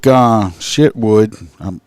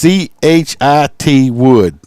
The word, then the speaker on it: Chitwood: The sheriff, Mike Shitwood. That's probably pretty close. It's CHIT Wood.